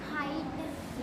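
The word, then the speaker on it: height: का लाइट टाइट लाइट हाइट लाइट which भी silent है हाइट हाइट एच एच एच इ आई जी एच टी हाइट हाइट वि silent है ये हो गए जी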